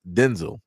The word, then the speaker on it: Denzel: Like I said, uh Denzel Washington is not pronounced Denzel Washington. It's pronounced Denzel, which is crazy.